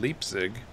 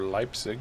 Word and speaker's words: Leipzig: Volkerschlachtdenkmal, and it is in Leipzig, or Leipzig, depending on your pronunciation, I suppose.